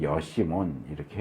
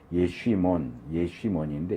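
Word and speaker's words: ישימון: 각주를 보시면 광야 이제 여시몬 이렇게 해놨는데 이건 이제 헬라어예요. 헬라어로 이제 정확한 발음은 여시몬이 아니고 예쉬몬인데 이 예쉬몬이라는 단어가 광야라는 뜻이에요.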